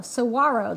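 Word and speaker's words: saguaro: to go in Saro Saro though you don't pronounce the G G right it's a Saro I'm in Vermont you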